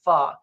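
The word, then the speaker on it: phở: So their national dish is called pho, which is spelled PHO, but it's pronounced pho.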